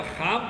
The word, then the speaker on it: خواب: میں پہلا خواب ہے۔ اس کا تلفظ خواب ہے، یہ خواب نہیں ہے، یہ خواب ہے۔ وہ لکھتے ہیں لیکن پڑھتے نہیں ہیں۔ Dreaming, day dreaming and